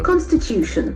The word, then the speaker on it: constitution: Can see the accent for the third syllable. Constitution.